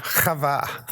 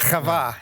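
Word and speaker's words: חוה: Chava. Is it? Yeah. There's a chet on there. Yeah. The chet. Chava. Yeah. You need phlegm to say Chava.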